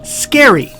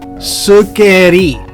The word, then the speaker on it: scary: word correctly in english especially when you have consonant letters next to each other so this word is pronounced scary not surgery what happens when you